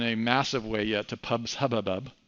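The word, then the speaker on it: PubSubHubbub: Nothing has moved in a massive way yet to pubs hubbub. I know that sounds like I'm stuttering, but that is actually how it's pronounced.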